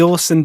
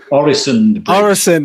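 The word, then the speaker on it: Øresund: Is it the Orson Bridge? Orison.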